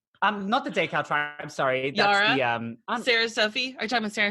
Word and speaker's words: Yara: I've already mentioned it once this episode, but there's a queen called Yara Sofia. And she, it's spelled Yara, but it's like a Jara.